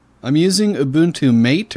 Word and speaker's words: MATE: using a boon to mate or matei as it's apparently pronounced nineteen point ten here